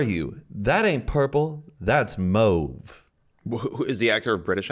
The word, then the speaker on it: mauve: According to Wiktionary, rhymes with stove is the UK way.